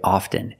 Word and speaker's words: often: words soften and often with both words I don't pronounce a t i say soften and I say often but sometimes you'll hear people say often and it's not wrong it's okay people say both often and often I prefer often in